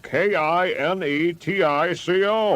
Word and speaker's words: Kinetico: You should have remembered kinetic as in kinetic energy with an O on the end. Kinetico.